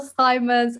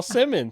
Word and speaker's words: Simmons: being interviewed by simons real pleasure wonderful to be there perfect except for my you butchered my name it's simmons i have to i'll do it again simmons simon like simon i said it's okay